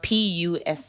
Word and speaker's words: Pusi: It's pronounced Pusi. That's like Kiswahili pussy.